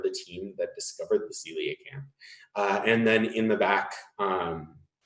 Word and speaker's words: coelacanth: It's not. There's no extra syllable there. It's coelacanth.